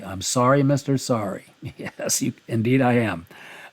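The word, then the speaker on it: Saari: out of the way you saw it how it was spelled s a a r i so that's Mr sorry I'm sorry Mr sorry yes you indeed I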